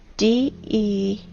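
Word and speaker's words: дерево: You know, in the Russian language, the word tree is spelled D-E-R-E-V-O, de-re-vo.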